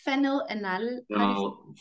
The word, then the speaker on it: phenylalanine: Phenylalanine. Oh, that makes it. Yeah. I find it difficult to get pronunciation guides for amino acids that we don't talk about very often.